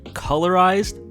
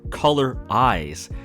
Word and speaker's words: Colorize: for instance songs like colorize can either be colorized or color eyes their fan name ouija